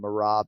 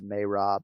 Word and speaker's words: Merab: just ruined them yeah it was easier making the fix from uh belal to balau right this is like a totally different sound from marab to may rob you know but uh